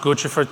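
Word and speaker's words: Guccifer: years you may remember my weird interview with Gucci fur - by the way it's pronounced Gucci for - I know it's controversial but let's set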